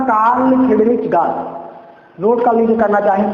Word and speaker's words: Gauss: तो जो गाउस theorem थी, तो गाउस थ्योरम की जो खोज है उस वैज्ञानिक का नाम था कार्ल फ्रीडरिच गाउस।